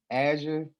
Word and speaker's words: Azure: from a certification standpoint hey really quick the pronunciation of it is azure azure yeah okay thank you yeah of course